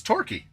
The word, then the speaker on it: Torquay: Torquay. Because QAY is key, right? It's pronounced key. TOR is pronounced tor.